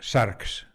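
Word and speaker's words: σάρξ: resurrección de la carne porque carne en griego se pronuncia sharks de ahí sarcófago no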